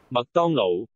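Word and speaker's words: 麥當勞: 麥當勞 여자 발음 들어볼까요?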